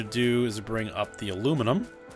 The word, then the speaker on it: aluminium: is bring up the aluminum. Though, in this game it is spelled aluminium, as it, which is the more European pronunciation of that metal, but I'll stick with aluminum.